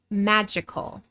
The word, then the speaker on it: magical: In both words, the first syllable is stressed. Magic, magical.